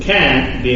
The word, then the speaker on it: can't: You notice there the pronunciation, the T there, you barely stand. The pronunciation falls for the negative expression. Can, the intonation rises. But in negative, the intonation falls.